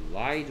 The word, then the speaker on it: lie: LIE 그래, 리가 아니고 라이죠.